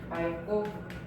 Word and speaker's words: 맑고: 하나는 떨어뜨려줘야 되는 거야. 기억을 떨어뜨리면 되고 리을이 남아있게 되겠죠. 그러면 이제 용언의 어감 받침 리을 다음에 기억 만났으니까 발음 자체가 맑고 이렇게 될 수 있어야 됩니다.